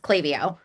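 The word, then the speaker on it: Klaviyo: Uh where people struggle is it's it's my company is pronounced Claio. Clavio.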